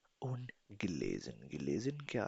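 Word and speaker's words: gelesen: पढ़ चुकना पढ़ चुकना या पढ़ चुके होना गिलेजन गिलेजन गिलेजन देन प्रेजेंस सबसे पहले प्रेजेंस यानी प्रेजेंट की बात करते हैं।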